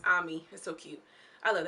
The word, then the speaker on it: Amy: case they um she amy which they pronounce ami is so cute i